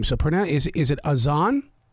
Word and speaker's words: Az'an: of people are always asking me how to pronounce my name so pron is is it Aon it's aan a z a n I love the way